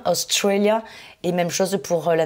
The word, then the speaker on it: Australia: Donc vous avez constaté que Australie, j'ai accentué sur la deuxième, Australia, et même chose pour la nationalité Australian.